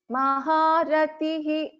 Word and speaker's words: महारतिः: महापातकनाशिनी Mahamaya महासत्त्वा महाशक्तिर्महारतिः Maharatihi. So Visarga has to be pronounced fully.